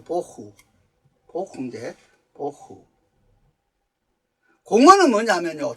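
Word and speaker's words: בֹּהוּ: 땅은 혼도하고 공허하며 이 공허란 말은 발음이 좀 비싼데 보후요, 보후.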